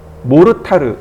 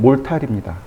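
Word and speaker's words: mortar: 몰탈이라고 하는데 뭘 타르 모르타르 이렇게 불러요 그러니까 영어로는 몰탈입니다 몰탈이 맞아요 일본식 발음으로는 몰탈이 안 나와요 그래서 모르타르 이렇게 얘기합니다 맥도날드를 마그도 나르도 그러죠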